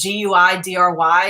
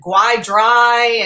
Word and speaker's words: Guidry: naming a new character with the last name Guidry, which is Guidry. And she's like, people are going to fuck that up. I'm like, Guidry? Like, really? She's like, oh yeah, they're going to pronounce it Guy-dry.